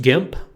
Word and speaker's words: GIMP: It's pronounced GIMP.